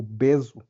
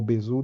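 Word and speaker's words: Besu: o sabor de tipo beso né a a a a variação de Hyper leder que chama beso ou bezu depende de quem está pronunciando e foi escolhida pelo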